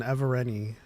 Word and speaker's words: Evereni: So Marchion is an Evereni, basically, and it's spelled Ever and then ENI, which is a